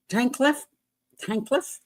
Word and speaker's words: Tankleff: I'm going to pronounce his name correctly. Tankleff.